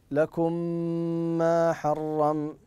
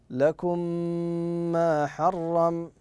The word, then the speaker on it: لكم ما حرم: بالمثل لماذا تفضل احسنت لان الميم ادغمت في اختها الميم الاخرى وسمي صغيرا لماذا لان الحرف الاول وهي الميم الاولى ساكنه والثانيه متحركه وسمي لذلك صغيرا وطريقه نطقها ان تقول لكم ما حرم لكم ما حرم كذا من يعيدها تفضل احسنت